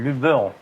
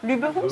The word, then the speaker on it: Luberon: Moi, c'est le Luberon. Pardon. Ça commence. On prononce pas l'accent. Luberon, c'est vrai? Ouais. Ça fait pas un peu parisien, Luberon, non? Non, justement, c'est Luberon qui fait parisien.